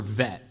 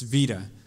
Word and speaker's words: Vita: I want to call her Vet, because when I see it spelled out, I'm like, that's a Corvette, but it's not. It's Vita.